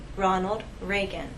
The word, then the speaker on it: Ronald Reagan: The correct pronunciation is President Ronald Reagan. We have R's here and here.